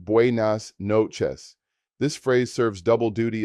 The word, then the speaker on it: buenas noches: Good evening or good night is buenas noches, pronounced buenas noches.